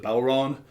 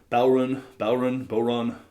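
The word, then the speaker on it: bodhrán: But depending on your regional variations of Bodhran, Bodhran, you'll hear it pronounced a lot of different ways, but just don't pronounce the D.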